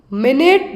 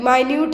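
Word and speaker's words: minute: vessels between the end sorry माइन्यूट है यहां पर मिनट नहीं है माइन्यूट का मतलब बहुत छोटा स्पेलिंग सेम रहे लेकिन अंतर है जो मीनिंग है अलग है माइन्यूट मतलब बहुत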